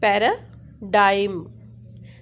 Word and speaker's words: paradigm: So pa stress on p, paradigm. So this is a two syllable word, paradigm.